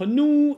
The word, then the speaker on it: nous: Я говорю «ну-ну». Только это «ну-ну» у меня слегка огубленно в силу французского тенденциозного такого произношения. «Ну-ну», «ну-ну промену». «Ну-ну промену» — это не «ню-ню» и не «ну-ну» тоже. Да? Но уж лучше пусть будет «ну-ну», да, чем «ню-ню».